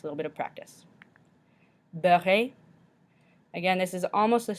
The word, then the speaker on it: beurré: So if you look back at beurre, at the end it's got just a regular E, so we don't pronounce it at the end. But when there's an E with an accent aigu, it makes that A sound that we've discussed before.